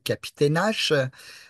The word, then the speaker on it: Capitanal: peut-être vous connaissez l'édifice capitanal qui a donné son nom. En fait, c'est un chef Innu, euh, ami des Français. Selon la prononciation, il faudrait même dire Capitainache.